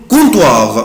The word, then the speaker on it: comptoir: بنطقه comptoir le comptoir le comptoir. طبعا ici je ne prononce pas la lettre P. انا هنا يا اولاد مش بنطق حرف ال P، ما بنطقوش، بقولها كده على بعضها le comptoir le comptoir counter.